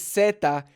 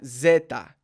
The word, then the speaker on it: zeta: we have is seta notice it is seta not Zetas seta so we're not talking about the cartel Zetas here we are talking about seta okay so I think